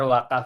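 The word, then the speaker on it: vakıf: Nah, jadi banyak yang terkecoh teman-teman yang belajar wakaf itu. Mm wakaf dalam bahasa Turki memang pakai V ya, tapi dibacanya tuh W. Jadi wakaf.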